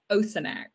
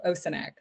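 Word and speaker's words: Osoinach: Absolutely, it is Osonac. Much easier to pronounce than it looks. So Osonac. Thank you.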